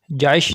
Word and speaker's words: Jaish: Welcome to baby names diary. نام ہے جائش۔ جائش نام کے انگلش میں سپیلنگ ہے JAISH، جائش۔ جائش نام کی جنس